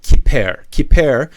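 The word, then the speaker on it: כפר: So pronounce it kiper.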